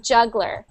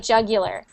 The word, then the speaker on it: jugular: Jug the jugular but sometimes people pronounce that like jugler juggler but I I pronounce it like jugular this one a juggler